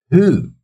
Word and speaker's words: who: Who, so W is silent here. Who, it sounds like house, so that would be number 8, sound number 8.